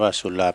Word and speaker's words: สุรา: โยม ทั้ง หลาย นะ สุรา อ่าน ว่า สุลา แปล ว่า เล่า ก็